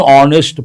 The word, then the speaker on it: honest: A lot of people say a honest but h is silent. Then what are you supposed to say? An honest person.